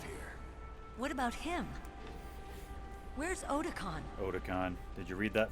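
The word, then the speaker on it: Otacon: Otakon. That's how it's pronounced properly.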